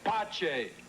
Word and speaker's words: Pace: Pace, you said your name was Father Pace. In inglés. In italiano mi nome se pronuncia Pace.